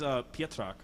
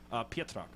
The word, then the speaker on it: Pietrak: It is Pietrak. It's sort of like the Z is silent, so it's one of those Polish stuff. We both let's hear it one more time. Pietrak.